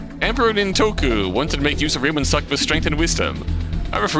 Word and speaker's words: Ryomen Sukuna: Can someone please tell me how to pronounce that? Ryomen Sukuna. Sukuna. So hard to read. So hard to read? Tough one for sure. Ryomen Sukuna.